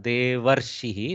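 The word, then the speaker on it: देवर्षिः: So the A will go with the left side Vyanjana, Devarshihi, like the Deva plus Rishihi. Repamsha has to be pronounced first, then Shakara, then Ikara, then Visarga.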